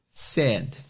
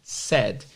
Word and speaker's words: said: Said, a escrita é S-A-I-D, mas a pronúncia é said. Said.